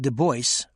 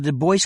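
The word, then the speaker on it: Du Bois: noted below note that in common American pronunciation the voice as in w eb des bois rhymes with rejoice also note that we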